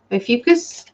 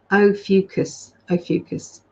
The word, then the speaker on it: Ophiuchus: Ophiuchus. Thank you, darling. Just helped out there. There you go. That's how we pronounce it. Ophiuchus.